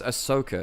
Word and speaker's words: Ahsoka: But that's the weirdest pronunciation of Asuka I've heard. Oh yeah, 'cause it's Ahsoka, isn't it? Which is very Americanized. Ahsoka.